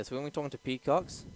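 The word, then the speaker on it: Pikakz: It's Peacocks, but if I read it, I'd be like so Filipino. It'd be Peacocks. But okay, so it's P-I-K-A-K-Z.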